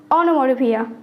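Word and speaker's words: onomatopoeia: तो गौर से सुनिए सही प्रोनंसिएशन है ओनोमो फिया जिसका मींस होता है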